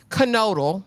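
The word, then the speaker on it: Knodel: you as Aaron kodal I've been calling that man Nole this whole time kodal is is how they pronounced it this episode is put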